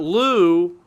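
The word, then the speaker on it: Lugh: you got you've got Lou again the GH is silent but but still it's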